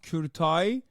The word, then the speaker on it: Kurtaj: It's pronounced Kurtaj.